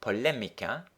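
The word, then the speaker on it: polémica: Now the word polemica, notice that accent on the E there, polemica is the English word polemic.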